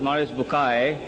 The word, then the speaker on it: Maurice Bucaille: a scholar of Quran, Dr. Maurice Bucaille, pronounced as Maurice Bucaille.